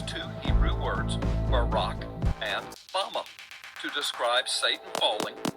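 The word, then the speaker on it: בָּמָה: in the Strong's Hebrew Dictionary, and it is pronounced Bama.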